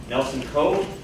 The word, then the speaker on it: Nelson Ko: I'm here to introduce a distinguished speaker, Nelson Coe.